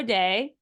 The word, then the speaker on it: Dai: welcome to the show day uh thanks Rebecca and I know sometimes it's pronounced day but sometimes it's also pronounced die so you we'll go with a Welsh pronunciation but no you're you're